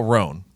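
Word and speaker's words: Rhone: to get it out there right away okay it's spelled rh o NE okay this guy's smart if you guys haven't heard about roan you're really missing out roan is a men's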